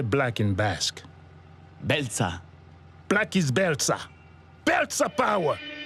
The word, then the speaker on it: Beltza: Beltza.